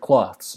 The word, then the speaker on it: cloths: I the heaven embroidered cloths by the way clothes would have a more substantial sound but he said cloths cloths has sort of a wispier sound at the end so that word choice